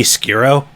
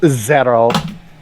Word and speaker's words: Xero: name is zero x-e-r-o wouldn't that be skiro no it's pronounced zero yeah but i'm not